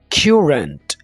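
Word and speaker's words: currant: आगे हमारे पास दोस्तों आ जाता है क्यूरेंट। इस वर्ड को ज़रा प्रोनाउंस करना ज़रूर सीख लें। इसको करंट बिल्कुल नहीं बोलना, क्यूरेंट, क्यूरेंट।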